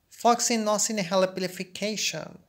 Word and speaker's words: floccinaucinihilipilification: And if you can't pronounce this word, try to divide it into syllables, like for instance, Floxy, nosy, nihili, bilification. Try to repeat each adjacent syllables together. Floxy, nosy, nihili, bilification.